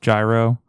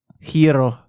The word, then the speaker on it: gyro: well, yeah, technically it's not pronounced gyro. How's That's it what- pronounced? Gyro. Hiro. Gyro Gyro. in Greek.